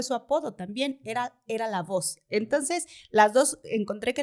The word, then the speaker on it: Lavoe: con e está bien normalmente los que somos latinos le decimos la boe pero como él vivió en Estados Unidos Entonces se quedó la voz justo por esto que dices que la e al final es muda y pues da mucha como